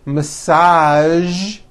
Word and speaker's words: massage: casual television very good now there are only a few words that have the voiced zhi sound at the end a few of these words are the color beige the word massage and the word prestige okay now that you